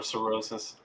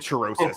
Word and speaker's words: cirrhosis: of thought liver cancer a little cirrhosis yeah that's hey I can't pronounce things all right oh that's what you're trying to say okay I said cherosis yeah sorry oh like